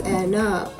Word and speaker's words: Ena: is the s look as this is the spanish phonetic pronunciation of the word however it has also